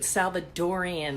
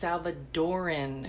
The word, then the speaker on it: Salvadoran: and drink and dish do not get confused with Salvadorian it's not Salvadorian it is pronounced Salvadoran yes thank you for